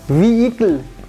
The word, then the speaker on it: vehicle: We will not pronounce this H and E. Vehicle.